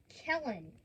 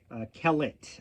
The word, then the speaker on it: Kellett: And then we have Dalton Kellen crash. Kellett, I think, is actually pronounced Kellet.